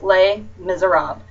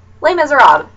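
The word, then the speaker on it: Les Misérables: I'm like, it's really not that hard. It's Les Miserables. Like, forget that the LES is even on there, and there you go. Les Miserables.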